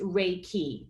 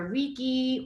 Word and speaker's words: Reiki: force so when you put it together it's rey key a lot of people you know you might hear reeky or you may hear you know other ways to say it but it's rey like the sun and key now rey if